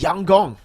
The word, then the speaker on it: Yangon: By the way, Lfell, apparently YG is pronounced Yang Gong.